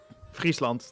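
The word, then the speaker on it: Friesland: So, uh where uh if I may ask, uh the North Sea and Freezeland, the Frizzian lakes. Freezeland. Um Friesand if you want the Dutch pronunciation for that.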